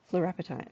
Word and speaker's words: fluorapatite: And all the boffins out there will be like, that's not how you pronounce it. Fluorapatite. Fluorapatite, there you go.